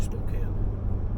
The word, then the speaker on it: Spokane: those of you who don't know it's actually Spokane okay Spokane thank you so it's almost